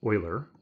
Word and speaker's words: Euler: name of an mathematician is pronounced Euler oil or like that so an Euler circuit